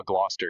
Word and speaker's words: Gloucester: Oh, is that how you say Glouester? Uh, Gloucester. Yeah.